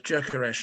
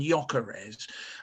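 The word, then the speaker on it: Gyökeres: television and we've got a couple of players jerkers and hummer and they are ritualistically anglicized into hamer and yokeres as if nobody's ever heard of an umlaut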